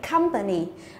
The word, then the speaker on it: company: Đấy, còn cái phương án D này của chúng ta cũng là một danh từ có ba âm tiết thì trọng âm rơi vào âm thứ nhất, đúng không? Như vậy company. Đấy, như vậy cái câu